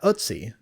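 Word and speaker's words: Ötzi: Um, sorry, I'm looking at Utsi. Is that how you say his name? Yeah, Utsi.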